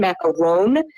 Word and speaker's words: macaron: Yeah, I think in America we have macaroons, and we'll pronounce like the French one macaron with the N, but it's like for French, it's O-N is like on.